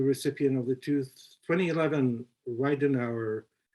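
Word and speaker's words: Ridenhour: of the two 2011 ryden hour full prize am i pronouncing that right yeah riddenhauer with an hour all right uh the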